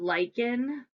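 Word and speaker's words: lichen: laser pointer above that you have lyen again spelled like Lin l i c h n but that is an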